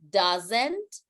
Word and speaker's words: doesn't: So here is don't, doesn't, and please remember that the S doesn't sound like an S. That's the tricky thing with English, that sometimes we see an S, but the pronunciation is like Z, like Zeta.